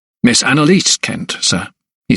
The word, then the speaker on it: Anelise: Miss Anelise Kent, sir," he said, emphasizing the last syllable in Anelise.